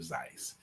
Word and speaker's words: Seuss: Mr um uh Dr zeitz himself actually uh we we know him as Dr Seuss is an actual proper pronunciation of Dr Zeiss and uh he just got tired of y'all messing it up right but he learned